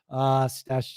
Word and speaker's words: Stache: But Stache, spelled like the last half of mustache. And that's the logo. You might have seen these signs around town. Well, it's also for stashing your goods. Stash.